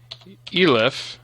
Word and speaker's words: elif: Elif, I'm going to pronounce it elif, that stands for else if 0 equals a mod 2, print even, else print odd.